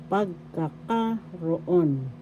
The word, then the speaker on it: pagkakaroon: could say pagkakaroon pagkakaroon first syllable second syllable ka third syllable ka fourth syllable raw fifth syllable on the third syllable has the accent so you pronounce this or bigas inal pagkakaroon presence as example ofal